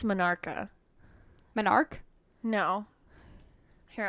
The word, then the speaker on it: menarche: Here, I'm gonna look up how to pronounce that. Yeah, that's how I would have said. Yeah, Minarca. I just. Or just Menarch. I don't know. I would have said something close, but. Menarch. She said Menarch.